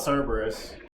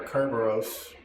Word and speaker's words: Cerberus: We already talked with Kiala about Cerberus, or Kerberos, however you want to pronounce it.